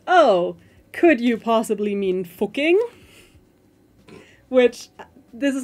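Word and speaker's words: Fucking: Oh, could you possibly mean fuking, which this is not a joke. So, it's an Austrian city which is called Fuking. I'm not pronouncing it. I'm deliberately just pronouncing it German, but they do sell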